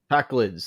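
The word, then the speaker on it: Pakleds: Packlids.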